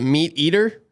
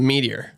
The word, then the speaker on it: meteor: I'm happy you said it right, cuz theirs is Yeah. A lot of people are like, "Can I have the meat eater?" No, it's the meteor. Yeah. I'd always correct them as a server. It's actually the meteor.